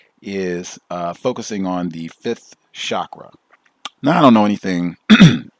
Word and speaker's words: chakra: It is pronounced chakra. That is the correct pronunciation, even though it is most commonly said chakra.